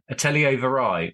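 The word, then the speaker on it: Atelier Vrai: it's from Germany and it is by atellier atellier verai or aell how do you spell that just in case people want to follow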